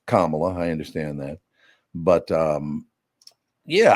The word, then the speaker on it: Kamala: Kamala Harris on the show, even though I pronounced her name correctly instead of Kamala. It's nice. It's Kamala.